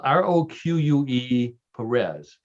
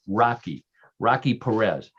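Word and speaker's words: Roque Pérez: So this comes from a city, but it's spelled Roque Perez, and I believe it's pronounced, believe it or not, Rocky Perez.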